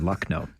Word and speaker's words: Lucknow: I can't share it on the air, but it's a word that rhymes with luck. Okay. That is a 4-letter word. Right. You can't say on the radio. Luck. Got it? Yeah. So we say blank no, it's luck no, because that's what the